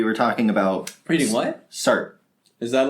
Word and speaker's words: Sartre: Sartre. Is that like a... Jean-Paul Sartre. He's an existentialist. Okay. Is it spelled like Sartre?